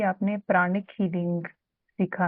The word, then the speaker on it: प्राण: प्राणा बोलते हैं, बट एक्चुअल में संस्कृत में वो प्राण वर्ड ही यूज होता है।